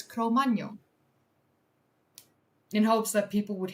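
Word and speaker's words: Cro-Magnon: So that's why in this new video that I premiered earlier today, uh, I pronounced it correctly as Cromano in hopes that people would hate me a little bit less.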